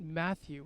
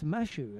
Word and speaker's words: Mashu: has just pointed out it's not Matthew it's mashu and it's Baker mashu and the reason that